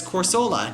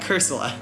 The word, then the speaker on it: Cursola: Yeah, I actually pronounced that as Corsola, not Cursola.